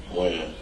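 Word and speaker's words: Wynn: Win. Win? Or Wen? Win. Win. W-E-N or W-I-N? W-Y-N-N. W-Y-N-N. Okay.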